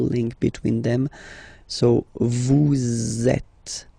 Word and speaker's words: êtes: Vous êtes. Same thing here. Notice that final S is not pronounced. Et.